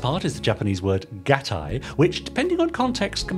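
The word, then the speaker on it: gattai: words to that effect the key is the Japanese I diphthong in this word which is pronounced like the English word I or the i in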